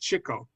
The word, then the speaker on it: Chico: It's pronounced Chico.